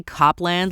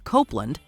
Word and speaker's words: Copland: number 13 Copeland cancelled no we didn't say Copland like the 1997 crime drama starring Sylvester Stallone pronounced Copeland this operating system got its